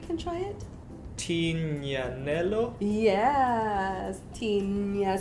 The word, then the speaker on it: Tignanello: Tignanello. So G-N. Yes. So Gnanello. Tignanello.